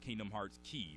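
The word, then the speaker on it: Kingdom Hearts χ: Like most recently, they released a called Kingdom Hearts Key or Kingdom Hearts X. You'll see it pronounced as like Greek X. The letter X is Greek for the word key or something like that.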